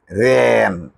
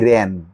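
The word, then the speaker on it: ran: আই র্যান, রান র্যান, র্যান উচ্চারণটা কেমন হয়, আই র্যান, রে এক পাশে একটু বেঁকে যায়।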